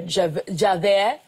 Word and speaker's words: Javert: And so for the Les Mis miniseries, you're playing Inspector Javert. That's right. well pronounced.